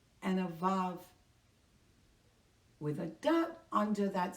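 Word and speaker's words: אָב: And with a dash under the A, it is pronounced Av. Av. Without that dot, in the middle of B. It is Av.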